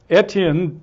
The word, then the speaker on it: Etienne: we have a guest etan Douglas did I pronounce etan right yes you did okay I now I'm